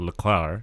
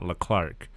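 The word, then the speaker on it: Leclerc: the clown i mean the c does not exist in his last name because they pronounce it leclar and not leclark which obviously isn't correct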